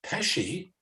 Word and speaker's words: Pesci: Plus, he mentors students from William Patterson University's, I believe that would be pronounced Pesci. Yes, it is. Institute, yep. Like Joe Pesci.